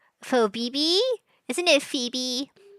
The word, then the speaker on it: Phoebe: Well, to answer your question, Little Red Riding Hood was a woman named Fobi. Phoebe. Fobibbe, isn't it? Phoebe. The O is silent because of the vowels.